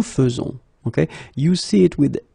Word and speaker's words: faisons: a surprise, but then the most difficult thing that you should keep in mind is the way you will pronounce it, because you don't pronounce it E as normally you should, but you will pronounce it like E. Nous faisons, okay, it's really f, f, f, nous faisons, okay, you see it